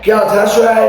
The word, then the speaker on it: Galatasaray: I mean, I remember a couple of years ago, Galatasaray, it's pronounced Galatasaray, you don't always pronounce it how you see it.